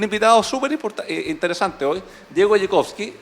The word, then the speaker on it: Dziekonski: Y para eso tenemos un invitado súper interesante hoy, Diego Jekowski. Dime si pronuncio bien después tu apellido, ¿no? Está bien, perfecto. Casi. Jekowski, pero es de origen polaco, ¿no?